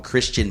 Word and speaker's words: Christine: these birds, this Christine, it's spelled Christine, but they call him Christian Michael having a heck of a camp.